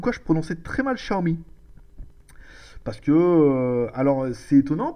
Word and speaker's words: Xiaomi: la remarque comme quoi je prononçais très mal Xiaomi parce que alors c'est étonnant parce que j'ai demandé à ma femme qui est chinoise et on dit bien Xiaomi hein Chao Xiaomi ch enfin comme si vous